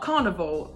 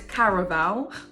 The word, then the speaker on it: Caraval: Because it's not carnival. In my head, I want to say carnival, but I'm gonna put it in actually. How do you pronounce this name? Caraval. So it's Caraval.